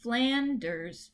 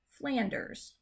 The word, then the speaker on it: Flanders: starting points such as flanders flanders not flanders so the stress is on that first syllable flanders and between and crosses